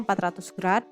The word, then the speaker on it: grad: satu putaran penuh adalah 400g atau dibacanya 400 grad sehingga besar sudut setengah putaran adalah 200 gr besar sudut 1/4at putaran adalah 100 grad besar sudut 1/400 putaran